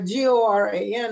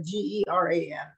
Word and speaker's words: Goran: Yeah, like Goran instead of Geran. You know, Geran, right, is the name, well, in it's the female's name in this, mm-hmm, case, and Goran is the guy's name.